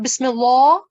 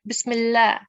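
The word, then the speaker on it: بسم الله: see the example Bismillah now this lamb due to certain conditions which I will go in the explore further with you later on is going to be pronounced with the thinsan okay it's not going to be pronounced with a tickson Bismillah that's wrong that's not the way we pronounce it we'll pronounce it Bismillah and we have further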